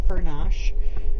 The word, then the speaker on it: Furnas: But it was just such an amazing experience, and we got to walk around the town of Furnash, which is obviously spelled like furnace, so it's named after the geothermal activity in the area.